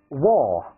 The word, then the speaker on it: wall: repeat after me, 跟出来一起再读一遍。Right, on the right, refrigerator, wall, window, trousers.